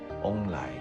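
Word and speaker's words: 旺来: 做旺来，因为他们的发音是翁来。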